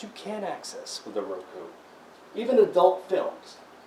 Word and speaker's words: Roku: great I love it it's called Roku are o.k you yeah that's right are ok you pronounce Roku so did your cable